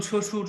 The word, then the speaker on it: শ্বশুর: তব বয় ক তক ব ফলা যদি কোন শব্দের প্রথমে বসে তাহলে তার কোন উচ্চারণ হয় না ঠিক আছে তো যেমন শ্বশুর স্বাধীন দেখো তালবস উচ্চারণে ব ফলা